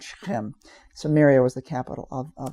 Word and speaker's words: Shechem: Shechem, I think in English we say Shechem. It's Shechem. That's the way we pronounce it in Hebrew.